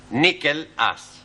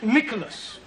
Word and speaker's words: Nicholas: Once upon a time, there was a man called Nickel Ass. That's not quite right. No? No. Once upon a time, there was a woman called Nickel Ass. It's pronounced Nicholas.